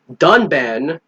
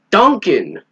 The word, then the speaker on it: Dunban: that the reviewer pronounced dunban Duncan there's no C in his name but the [ __